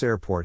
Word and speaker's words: airport: To pronounce airport, have in mind that the size of the syllable indicates where the accent or stress is. In this case, the accent is in the first syllable, corresponding to air.